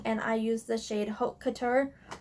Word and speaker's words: Haute Couture: I used the shade Haute Couture Haute Couture hot chocolate um it's spelled